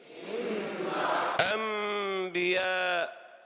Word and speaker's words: أنبياء: هو أن أنطق النون الساكنة ميما مخفاة، فلا أنطق مع الإقلاب نونا أبدا. يعني نسمع بعض من يقرؤون في قوله تعالى أنبياء، نسمعهم يقولون أنبياء هذه نون صحيح. من بعد، نسمع هذا أم لا نسمع؟ إذن هذا إخفاء وليس بإقلاب. حينما تقول من بعد هذا إخفاء، ولكن الإقلاب أنني لا أسمع نونا أبدا، لساني لا يعمل مع الإقلاب، لأني أنطق ميما صافية من بعد.